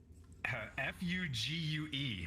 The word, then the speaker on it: fugue: a word I don't know this is interesting f-u-g-u-e how do you even pronounce that Fugue f-u-g-e-l Fugue state oh yeah